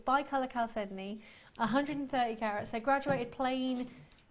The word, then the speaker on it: chalcedony: We've got some chalcedony. You have to say it like that, you see.